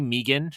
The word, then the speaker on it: M3GAN: See, see Megan, right? Uh, and uh M3gan. Sorry, Jen. I saw you roll your eyes, but I didn't pronounce the three.